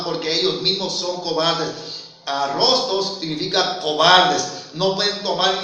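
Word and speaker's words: arrostos: La palabra debilitado tiene la palabra arrostros, pronuncié mal al principio, arrostros, acentuada A inicial, R-O-S-T-O-S, arrostros.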